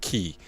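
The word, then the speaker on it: χ-blade: It is key X blade. It it's it it's X, but it's like chai, but it's said key.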